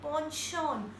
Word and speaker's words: penchant: I repeat, panchant, and we pronounce it like ponchon. Ponchon. Isko penchant nahi bolenge. We pronounce it like ponchon.